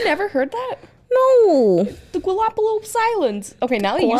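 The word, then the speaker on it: Galápagos: for wildlife viewing how do you go about pronouncing the name of these islands the galapagos islands galapagos can i just say a ghost island can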